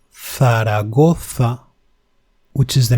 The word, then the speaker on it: Zaragoza: It is not z. It is th, like in Zaragoza, which is the name of a city, or zumo, which means juice.